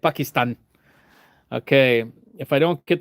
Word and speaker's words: Pakistan: See how I said it, like with the proper pronunciation. I said it like Obama used to say it. Pakistan.